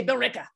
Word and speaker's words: Billerica: love how you spy how you pronounce billerica like you we pronounced everything we just say bill ricka even the elves